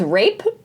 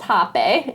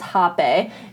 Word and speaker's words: rapé: It does have the E with the line on the top, but for the purposes, it is pronounced hapeh, and it is spelled R-A-P-E.